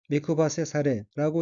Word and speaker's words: 目配せされ: 셋째 줄의 어귀는 한자가 눈목자와 나눌 배자가 들어있고 일본어로는 미쿠바세 사레라고 읽으며 미쿠바세 사레는 눈짓이란 뜻의 명사 또는 수루